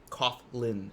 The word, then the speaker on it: Coughlin: old giant set those Kaufman Kaufman okay uh Coughlin Coughlin never there that's why I was saying